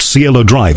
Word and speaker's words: Cielo Drive: this place we hasn't named the drive at Cielo Drive isn't it that's but yes that's how you pronounce that yes and it became internationally famous